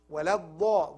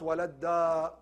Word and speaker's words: الضالين: ولا الضاء. ضاء is full mouth. ولا الضاء, not ولا الداء.